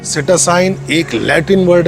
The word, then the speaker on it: Psittacine: जो मैंने स्क्रीन पे लिखा है इसे सिटोसाइन कहा जाता है। और ये बीमारी आप माने या ना माने बर्ड की जान लेके जाती ही जाती है। सिटोसाइन एक लैटिन वर्ड है